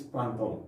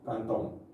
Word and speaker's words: printemps: Le printemps, okay, we pronounce this printemps, okay, printemps.